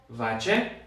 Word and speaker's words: vache: Se escribe vache. Así se escribe vache. En el diccionario lo que ustedes van a ver va a ser una V, una A y una sh.